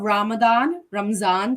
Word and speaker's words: Ramzan: So first and foremost, it is the holy month of Ramzan specifically. That's how you pronounce it.